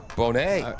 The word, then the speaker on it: Bonet: One of the opponents his last name B O N E T. So you pronounce that Bonnet or Bonet? I go with Lisa Bonet from the Cosby Show.